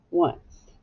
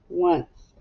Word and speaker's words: once: o n c e once now very tricky word can you map it yourself try yeah that's right it sounds like there's a w and the u wha